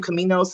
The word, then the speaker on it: Caminos: is your last name Caminos? Is that how you say it? Tell me, make sure I'm saying. Okay, Caminos.